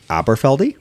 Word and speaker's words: Aberfeldy: Well, you may know the pronunciation better than me being native, but this is Aberfeldy is how I'll pronounce it.